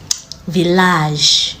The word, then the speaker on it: village: But there are some exceptions like village.